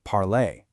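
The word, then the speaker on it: parlé: For your ER verbs, like parler, you chop off the ER and add an E with an accent to get parler, pronounced parlay.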